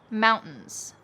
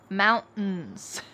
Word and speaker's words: mountains: to the office excellent what's happening with that last word mountains mountains well often if there is a t plus in sound at the end of a word we drop the t and kind of swallow that sound listen to these other